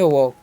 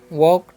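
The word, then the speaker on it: walk: तो इसे हम पढ़ेंगे वॉक। क्या पढ़ेंगे? वॉक।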